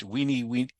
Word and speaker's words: veni: Classic Latin actually pronounced its V's as W's, our best guess is, which means that Caesar would have found it weenie, weedy, and witchy.